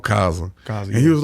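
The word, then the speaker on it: Khaza: Am I pronouncing it correctly? Kaza.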